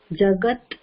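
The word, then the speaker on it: जगत्: one Nala brat jagat n next correct soat that last ending we are trying to stop it abruptly because it is a consonant so not we are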